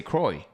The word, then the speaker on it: Croix: know k i mean c r o i x i say kroy okay i don't know